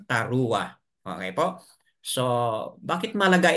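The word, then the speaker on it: teruah: word that is teroa kapag ah basahin po sa modern teroa po ang kanilang pagkabigkas but sa atin po sa yahud yat Iyan po ay Tara Okay po So bakit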